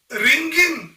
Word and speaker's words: wring: मेरी माँ कपड़ा धोने के बाद उसे निचोड़ रही है, तो माई मॉम या my mother is रिंगिंग the laundry. WRING, रिंग मतलब निचोड़ना, W साइलेंट है.